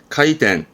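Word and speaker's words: 開店: 카이텐, 카이텐. 요거 자주 보입니다. 개최하다입니다.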